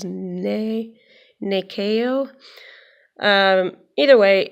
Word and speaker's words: Nyakio: how to say this it looks like nyakio but the pronunciation guide says nee nee KO in a way it's